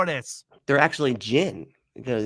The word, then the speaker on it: jinn: They're actually jinn because with the DJ or however they spell it, like gin.